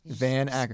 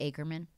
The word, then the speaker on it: Van Acker: You know what's funny is people will say it, and I don't understand how you can say Ackerman. Like, I don't know how you can say Acker.